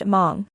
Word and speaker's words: Hmong: For example, the word Hmong, which in RPA would be spelled mu, is simply pronounced Hmong, with an almost inaudible aspiration at the beginning of the word.